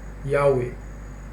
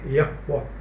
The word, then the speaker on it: Yahweh: It is not Jehovah, it's actually Yahweh. It's pronounced actually Yahweh. That's how the Jews pronounce it.